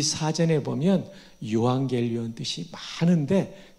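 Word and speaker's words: εὐαγγέλιον: 근데 헬라어에 12권짜리 언어 사전이 있는데 편저자 이름을 따라 키텔 사전이라고 하는데 이 사전에 보면 유앙겔리온 뜻이 많은데 그 중에 하나 주목할 것은 전쟁에서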